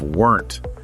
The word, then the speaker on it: weren't: And the lesson actually helps us out even more by connecting the pronunciation of weren't to aren't. Okay. Because they both use at-ern't sound.